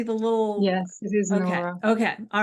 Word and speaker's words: Nóra: and it looks like Nora is do you pronounce it Nora I see the little yes it is Nora okay all right cool um I got a